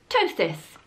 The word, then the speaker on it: ptosis: learned the new word I have learned is ptosis spelt with the silent P a little bit like a pterodactyl and I have got Stage three ptosis ptosis means saggy saggy boobies stage 3 is